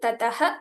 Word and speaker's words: ततः: So there's a full pronunciation of the visargas when it is followed by kshakara. So this is one more rule that we can add to our list of the pronunciation guide. So it has to be told completely.